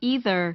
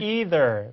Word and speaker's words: either: either, 이렇게 either, 해보세요. either, either 하지만 자 영국 친구들은 either, 이렇게요. either, 자, 모음도 틀리고 뒤에 R도 틀리고 해서 either.